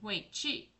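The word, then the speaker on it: 围棋: China's most enduring game is Wei Qi, pronounced like Wei Qi, and often known in the West by a variant of its Chinese name, Go.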